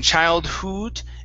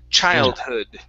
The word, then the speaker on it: childhood: word is childhood now instead of saying childhood and using an ooh sound it's uh childhood chad head okay very